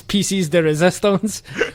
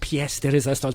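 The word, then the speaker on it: pièce de résistance: per dance out there yes i know it's pronounced ps the resistance but that wouldn't work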